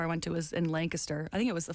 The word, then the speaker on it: Lancaster: that's pretty good you you drew it out a little bit like you got to shorten it compress it a little bit I I you know